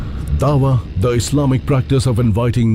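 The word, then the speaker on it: da'wah: Dawa is the way it's pronounced.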